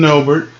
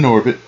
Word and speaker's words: Norbit: Girl from Norbert. No, girl from Norbit. Of Norbert. Now you have me saying it wrong. She's from Norbit.